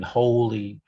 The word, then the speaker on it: wholly: holy objects have been wholly restored there's a slight difference in the pronunciation with this word you've got holy and holy there's so it's a sort of longer vowel with the second word yeah do you understand